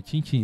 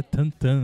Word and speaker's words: Tintin: terra do Tintin, isso que eu ia falar, que na verdade a pronúncia é Tantan, né?